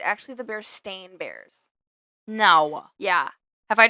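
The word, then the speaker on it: Berenstain: most people pronounce it be Steen Bears yeah but it has never been the bear Steen Bears it's always been the bear stain a i n not e i n what okay I know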